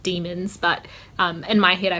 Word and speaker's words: daemon: So like daemon instead of demon, and althiometer instead of alethiometer, or whatever it's meant to be.